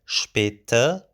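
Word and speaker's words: شپېته: And then we have Später, with a schwa sound at the end, Später.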